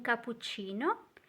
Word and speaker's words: cappuccino: So make sure you pronounce all those doubles.